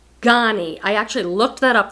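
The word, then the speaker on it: Ganni: But I sold this Ghani dress this year, G-A-N-N-I. It's pronounced Ghani.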